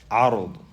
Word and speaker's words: عرض: عرض with the sukoon on the ra, because there's different ways to pronounce this word.